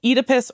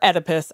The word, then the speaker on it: Oedipus: So the original Oedipus or Oedipus, I think it's pronounced both ways, story is basically this myth about a guy who accidentally kills his dad.